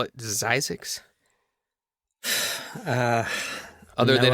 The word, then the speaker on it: Zzyzx: Some people I saw call it Zzyzx, but if you listen to Doc, quote unquote, I will do air quotes, Doc Springer, he calls it Zzyzx. So that's the proper way to say it.